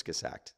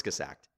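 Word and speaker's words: Kurzgesagt: called Kyrgyz sacked quartz kiss act I'd say well how do you spell that no it's kiss accidents all that for all of us yes k you are Z G es a GT it's obviously German courts kiss act and sounds like it spells I assume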